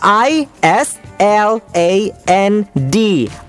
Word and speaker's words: island: sword อันนี้ที่หลายคนจะออกเสียงพลาดจริงๆไม่เฉพาะคนไทยนะหลายชาติด้วยแหละที่ออกเสียงพลาดอ่ะคำต่อไปคำนี้ที่แปลว่าเกาะนะครับคำว่า island อันนี้เพิ่งสอนเด็กไปเมื่อ 2-3 วันที่ผ่านมานี่เอง island i สะกดนิดนึง i s l a n d island เราไม่ออกเสียง s นะครับ i island s singapore